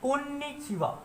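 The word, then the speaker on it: こんにちは: चलिए, third number पे है कोन्निचिवा। तो देखिए, यहाँ पे ये जो वा है, ये मैंने लिखा है हा, लेकिन इसका प्रोनाउंसिएशन यहाँ पे होगा वा, कोन्निचिवा।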